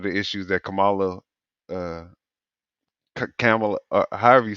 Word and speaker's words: Kamala: woman name is not no damn Kamala. It's Kamala. Kamala, Kamala. Kamala, Kamala. Kamala, Kamala. Kamala.